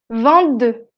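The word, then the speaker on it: vingt-deux: Cuando pronunciamos el número solo o con una consonante, como con 22 o 23, la T no suena. On dit 20, 22, 23.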